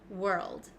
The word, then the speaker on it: world: go over this one we pronounce this world world okay let's go step